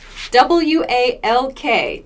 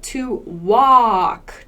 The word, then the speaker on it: walk: pronounced er work work w-a-l-k to walk to walk your vowel sound is very different it's a tall a like wah sound and we don't really pronounce this l walk we don't say